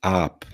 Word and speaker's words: aap: pan pani AP prawda to nie jest AP to jest AP i czasem różnica między tym długim dźwiękiem a krótkim zmieni całkowicie znaczenie i teraz każda właściwie